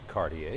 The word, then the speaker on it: Cartier: A local woman, Caroline Cartier, pronounced Cartier, yes, okay.